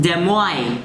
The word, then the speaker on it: Des Moines: Also in Iowa, the word Des Moines, it's pronounced Des Moines in English.